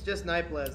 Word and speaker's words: Nightbliz: Is it Nightblaze? Yeah, it's just Nightblaze. Correct, this is how it's spelled in here. There we go. B-L-I-Z.